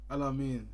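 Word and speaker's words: Aml Ameen: Alamin.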